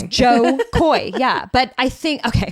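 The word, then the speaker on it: Jo Koy: his name sometimes just I think it's John and it's not John it's Joe Joe Koy it's Joe Koy yeah but I think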